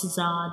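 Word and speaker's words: ز: Za has only one dot, and Za is a whistle letter. When we pronounce Za, the whistle like sounds comes.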